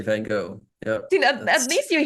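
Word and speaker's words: Van Gogh: go take a guess they say van go yes like the G and H don't exist at all at the end what is this French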